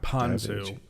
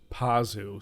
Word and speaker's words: Pazu: ] uh Davy Chase not panzu pazu sorry pazu I've been saying it wrong is panzu a sauce